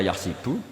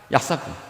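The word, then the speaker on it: يحسب: Karena dalam qiraat sabah ada yang baca yahsibu. Qiraah kita baca yahbu. Tapi guru-guru kita kalau ngajar fikih itu bacanya yahsibu. Tapi kalau baca Quran yahsabu.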